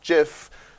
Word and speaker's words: GIF: came from but like gif is supposed to be pronounced jif png is supposed to